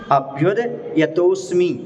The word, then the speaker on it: अभ्युद्यतोऽस्मि: सुनिए सुनिए, यहाँ पर अभ्युद आधा दा इस तरफ ले लो और या उस तरफ ले लो। अभ्युद यतोस्मि, वो आधा दा और पूरा या मिलकर के द्या बनता है, तो आधा